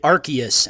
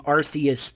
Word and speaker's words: Arceus: the next announcement was is called pokemon legends arceus uh which in the trailer they pronounced it arceus and i learned that i have been saying arceus this whole time which is wrong but i'm